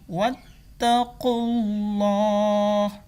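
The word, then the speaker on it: وَاتَّقُوا اللّٰهَ: Nah, jadi ini wattaqullah. Karena Bapak wakafkan Allahnya ini yang hak tidak terbaca atau disukun.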